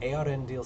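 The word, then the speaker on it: Eärendil: er so i didn't it sounds like ar and dil so i didn't want to mispronounce it and arendil said to them here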